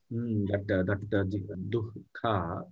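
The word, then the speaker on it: दुःख: Dukkha, yes, jihvamulya, ardha or quarter visarga, we have to pronounce dukkha.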